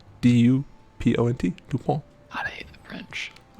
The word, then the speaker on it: Dupont: Dupont. Dupont. D-U-P-O-N-T. Dupont.